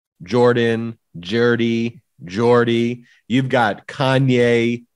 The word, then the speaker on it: Jordan: That is how you pronounce her last name. It's Jordan.